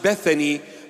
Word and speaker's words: Bethany: In English, it is pronounced Bethany, but in the original pronunciation, in the Hebrew Aramaic pronunciation, Bethania.